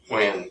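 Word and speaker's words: Wynn: What did Wendell go by? Win. Win? Or Wen? Win. W-E-N or W-I-N? W-Y-N-N. W-Y-N-N.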